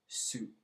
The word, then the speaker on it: syg: If you watched the last video, I said be careful when you're pronouncing sick because it sounds also like the number 7, syg, S-U-S-Y-V, as opposed to S-Y-G for sick.